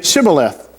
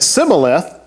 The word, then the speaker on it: Shibboleth: If he answered no, they told him, please say Shibboleth. If he said Sibboleth, because he could not pronounce it correctly, they seized him and killed him at the fords of the Jordan.